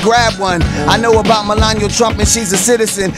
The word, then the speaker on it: Melania: Melina Trump. Melania, you Melania. Say her name right.